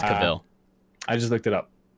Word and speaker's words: Cavill: I think his name's pronounced Cavill, like travel. Cavill. I think it's Cavill.